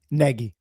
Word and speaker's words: Nagy: Today we are here to break down the Giants offensive coordinator hire Matt Negi or Naggie. I don't yet know. The correct way to pronounce it what? Negi.